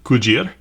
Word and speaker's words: Cugir: The Dracos are Romanian, built in Cugir, as it says right there. And yes, that is how it's pronounced by Romanians. I asked locals there in the city of Cugir, and that's the answer I got.